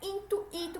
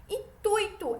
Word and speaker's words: intuito: as outras palavras apresentadas muitos falantes ficam em dúvida pois transformam o ditongo em ato enfatizando Wii como se fosse intuito certo então tem muita gente que promoção pronuncia a palavra intuito mas não é intuído como se fosse um hiato certo é intuito é um ditongo e seguro e esse